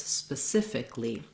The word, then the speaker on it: specifically: that often uh the suffix a-l-l-y those letters don't actually say ali but rather just li so thinking about it rather than specifically it's specifically so spelling makes it look